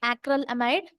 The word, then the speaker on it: acrylamide: is having acral amide you should pronounce like acral amide acral amide is very